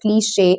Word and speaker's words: cliché: It's not cleach or click or whatever. It's cliché, and the E you use in this particular word is a different one.